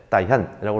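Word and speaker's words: Đại Hàn: 따이한이라고 하는 것은 대한, 대한민국의 대한을 베트남어로 발음했을 때 따이한이라고 합니다.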